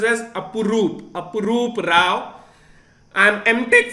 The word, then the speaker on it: Apurup: It is pronounced as Apurup.